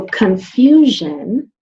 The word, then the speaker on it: confusion: So confusion, sounds like it's spelled with a Z, but it's not.